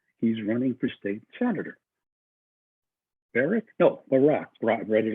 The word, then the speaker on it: Barack: Brock? No. Barack Obama. He's running for state senator. Barack?